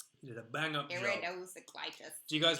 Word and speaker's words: iridocyclitis: My, that's a nice iridocyclitis. I was walking my iridocyclitis the other day. Please say the word. Iriclosiditis. No. P. Wrong. Iridocyclitis.